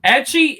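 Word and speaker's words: ecchi: everybody today all right edgy is basically it's the letter h edgy is how they say h in japanese it's hentai hentai means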